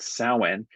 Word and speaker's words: Samhain: And it's spelled like Sam Hain, but it's pronounced 'sow-wen' and this is when the winter squash the pumpkins, the large hard shelled squash are ripe.